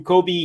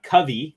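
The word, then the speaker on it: Kavi: long 40 love out nice to meet you Kobe he says it's pronounced uh Covey and but it's spelled k-a-v-i but nice to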